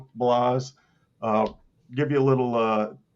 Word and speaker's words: Blas: How do you pronounce it? Blas.